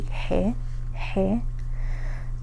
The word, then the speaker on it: ge: Um so G in Spanish the the name of the letter would be he. Um, I guess the best way to write that pronunciation would be like H, E, H, he, something like that.